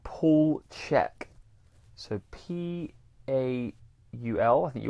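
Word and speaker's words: Chek: a guy called Paul Check. So Paul, I think you all know how to spell Paul. Paul Check, but Check is less obvious because his surname is spelled C-H E-K.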